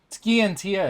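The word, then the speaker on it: Scientia: that why you're having skientia investigate the milsion conflict because your father might have been involved i don't know for certain ski and tia is how it's pronounced you're for daily winks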